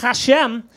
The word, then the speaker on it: Hashem: Dina, her last name is pronounced Hashem, which is the sound her boyfriend makes after eating her hairy pussy.